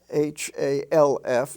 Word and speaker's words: half: a dollar half dollar h-a-l-f is pronounced half as if it were spelled h-a-f-f and in the l-k